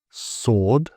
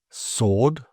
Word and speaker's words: sword: So, I don't know, it says think of W here as a friendly ghost, always seen but never heard, as these examples show. Right, wrong, sword, answer, whole, and who. So right, wrong, sword, answer, whole, and who.